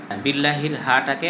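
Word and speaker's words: بِاللّٰهِ: ভুল বললাম একটা হলো হাকে স্পষ্ট করে পড়তে হবে হাইয়া পড়া যাবে না বিল্লাহি পড়া যাবে না বিল্লাহি পড়তে হবে দুই নাম্বার বিললা হাটাকে হা পড়া যাবে না। হা বিল্লাহি হা এবং হার মাঝে পার্থক্য করতে হবে।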